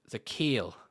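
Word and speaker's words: Zakelj: offensive tackle by the name of nick za zakale and i know it says cicage a killage but it's actually pronounced the kale i don't know why there's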